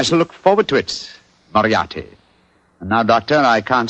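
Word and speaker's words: Moriarty: mispronounce it I'm afraid I'll have to begin calling it the way it looks m o r i a r t y mariati mariati I shall remember that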